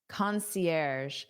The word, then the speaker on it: concierge: Our concierge, concierge. So, this is a word we borrow from the French language.